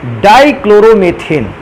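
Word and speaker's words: dichloromethane: अगला कंपाउंड लिखा है बेटा डाइक्लोरोमेथेन। अंग्रेजी में भी बेटा इसको डाइक्लोरोमेथेन ही को कहते हैं। हाँ, ये हो सकता है कि उच्चारण के दौरान डाइक्लोरोमीथेन भी बोला जा सकता है इसको।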